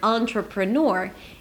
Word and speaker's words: entrepreneur: So the first syllable in this word, the word entrepreneur, is the syllable, the sound ah, on, on. Think about it as the word on, turn it on. Or think of it as an or aan, on. Okay, definitely not an e, it's not an e sound, okay, on. Then you have two quick syllables, tr, pr. They sound the same, right? They kind of rhyme.